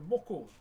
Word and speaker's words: moko: So as I was about to mention, this is my moko. M-O-K-O is how you spell it.